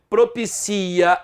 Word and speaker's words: propicia: Não, a TV propicia algo. Agora, tudo que ele falou foi propício. As palavras que ele falou foram propícias. A sílaba tônica agora é a penúltima. Propicia, a sílaba tônica é o si.